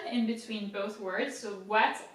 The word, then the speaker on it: boîte: Boîte is box in French. So B is pronounced normally. OI in French is wa. Wa. You know, like think of a dog barking or something. Wa. Boîte. Boîte.